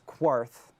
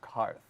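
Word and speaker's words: Qarth: Danny says Quarth, and the other guy says it's Karth, which is kind of cute.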